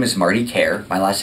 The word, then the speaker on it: Kiar: My name is Martin Kiar. My last name is spelled K-I-A-R, and I'm the mayor of Broward County, Florida.